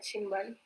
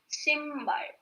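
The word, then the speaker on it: 신발: Yeah, the correct pronunciation is Shimbar. Okay? When your Neon and Biop are together, at that time, your Biop sounds like M, right?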